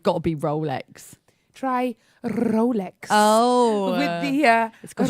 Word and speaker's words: Rolex: Try Rolex. Oh. With the got a- rolled R. It's got a roll of the tongue, Apparently has it?